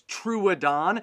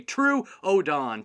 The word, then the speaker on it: Troodon: this dinosaur's name is truadan uh kind of like true or false so just say true odon truedon and its name means